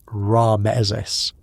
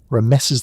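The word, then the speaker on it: Ramesses: And when you say his name aloud, it's not Ramezes. It's more like thunder clearing its throat. Rameses the Great.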